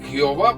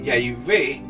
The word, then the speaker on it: Yahvé: En este estudio he cambiado el nombre falso Jehová por el nombre de Yahvé, ya que parece ser que esa es la correcta pronunciación en hebreo arcaico del nombre de Dios Padre y de su Hijo Jesucristo.